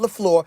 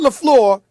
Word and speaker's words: LaFleur: Did I pronounce his name correctly, Molly? I just want to make sure I said Matt LaFleur. I didn't say that's right. LaFleur. I said LaFleur.